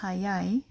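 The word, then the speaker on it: 早い: after it we know it's going to be pronounced hayai we're not going to learn another pronunciation for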